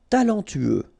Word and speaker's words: talentueux: Talentueux, final X not pronounced, then you get this E-U together, E, then T-U, tueux, talentueux, talentueux.